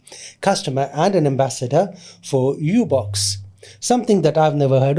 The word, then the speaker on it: UBX: Okay, so uh so it's Ubox. So it's it's spelled UBX, but it's pronounced Ubox. Ubox.